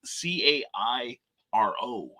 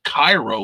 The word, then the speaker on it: Cairo: in uh illinois is c-a-i-r-o and instead of pronouncing it cairo like the rest of the world does and it should it's cairo like the the uh sh like the sugary syrup so um you know